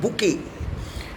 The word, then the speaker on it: bouquet: व्यस उसे हम कहते हैं बुके, BOUQUET, स्पेलिंग इसके ध्यान रखिएगा व्यस, BOUQUET, बुके।